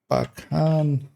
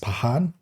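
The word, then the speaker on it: Pakhan: Uh so apparently it's pronounced Pahan which kind of I think already uh in like Slavic languages the KH Usually it's just a H where like in Arabic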